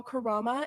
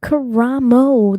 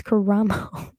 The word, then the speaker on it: Karamo: It was Karamo. There's an O at the end. It's Karamo, unless I'm saying it wrong, but I'm pretty sure it's Karamo.